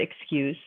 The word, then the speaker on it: excuse: Now, if I have the word excuse, I split it EX, and then that's my first syllable, and CUSE is my second syllable. So that USE that I have underlined here, that's a vowel, a consonant, and a silent E. You're hearing excuse. You're hearing the U sound. You're hearing the letter U say its name.